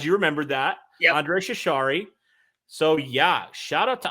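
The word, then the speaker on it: Chachere: andre and derek you say it just just pronounce it for us it's cesari nice i'm glad you remembered that yeah andre shishari so yeah shout out to andre man kevin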